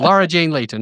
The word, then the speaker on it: Laura Jane Layton: And today I'm with Laura Jani. How do you say your name? Oh, Laura Jane Layton.